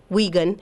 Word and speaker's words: Wikun: And our general email is Wigunvillage, and it's pronounced Wigun.